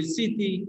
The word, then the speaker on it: স্মৃতি: তাহলে আমরা বলছি এইটাই যে যখন শব্দের প্রথমে মুখ ফলা থাকে তখন এই মুখ ফলার উচ্চারণটা হয় না, বা মুখ ফলা এর উচ্চারণ হয় না। যেমন স্মরণ, শ্মশান, হ্যাঁ, তারপর আমরা যদি বলি স্মৃতি ইত্যাদি।